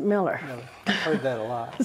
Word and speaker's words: Mueller: It's M-U-E-L-L-E-R, but I always pronounced it Miller.